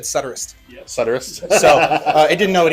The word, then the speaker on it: Suturist: because then after I had it say the pronunciation of the name, and it said Suturist. Yep. Suturist.